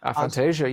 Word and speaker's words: aphantasia: Aphantasia. Aphantasia. Yeah, that's that's how it's pronounced.